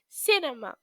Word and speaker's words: cinema: Pay attention to the pronunciation of cinema. Okay? We say cinema.